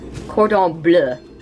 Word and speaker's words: Cordon Bleu: By the way, honey, what's the correct way to pronounce it? Cordon Bleu.